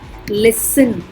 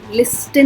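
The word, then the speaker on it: listen: लिसन, लिस्टन नहीं होता, लिसन.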